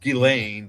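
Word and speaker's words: Ghislaine: Epstein and I seen one with Yeah, Gileain. Yeah, she's a weird name. It's pronounced Gileain, but it's it's spelled.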